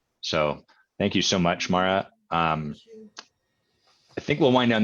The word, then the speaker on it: Moira: em oh I RA what why is it pronounced Maura is that like a Gaelic thing er I